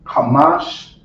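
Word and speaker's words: חמש: right so this is how you say five in Hebrew hamash and creole I will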